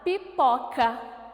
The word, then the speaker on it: pipoca: Muito bem. Pipoca. A sílaba pó, eu ponho mais força para falar. Eu ponho mais intensidade nessa sílaba.